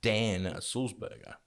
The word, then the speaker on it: Sulzberger: and my guest today is my good friend dan salzburger how you doing dan great great pronunciation too by the way oh thank you